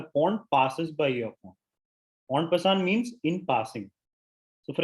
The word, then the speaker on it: en passant: Now, the second special rule that we're going to learn is called en passant. Let me spell it out for you. It's a French term. So it's spelled En, it's two words, ENPASSANT, and it's pronounced en passant.